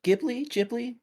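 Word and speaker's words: Ghibli: to um keep watching more uh studio is pronounced gly ji everyone says it differ um but I'm really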